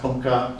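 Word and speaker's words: 文化: wen and hua, that in Japan it's pronounced bunka, same characters used in Vietnam, same ones in Korea, same Chinese characters used.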